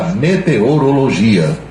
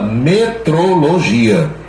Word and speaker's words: meteorologia: feito pelo pessoal da meteorologia todas as vezes que eu pronunci essa palavra também eu tenho que dar uma explicação porque muita gente no rádio fala metrologia de metro e não é é o estudo dos